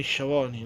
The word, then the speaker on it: Schiavone: Tony Tony si dice Tony Shavoni non Tony Tony Shavoni.